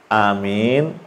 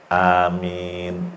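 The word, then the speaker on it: آمين: Amin itu A-nya 2 harakat, min-nya boleh 4 sampai 6 harakat. Ya, amin tanpa disyiddah. Jangan dibacanya amin. Itu salah.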